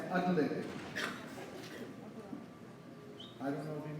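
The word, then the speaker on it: atlatl: It is pronounced as adlet.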